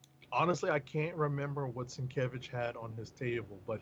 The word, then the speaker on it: Sienkiewicz: Oh, pronounce his name the right way on his front page. It says Bill Sienkiewicz.